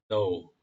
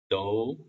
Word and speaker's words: though: 이게 원래는 정확히 발음하자면 though입니다. though.